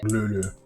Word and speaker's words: Cthulhu: It was Cthulhu. It was Cthulhu. It was Cthulhu. Fun fact, Lovecraft himself gave several pronunciations for Cthulhu's name, including Lulu.